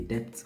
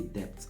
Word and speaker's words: depth: So debt, you pronounce the P. Okay, the depth of the river is dangerous. We measured the depth of the well.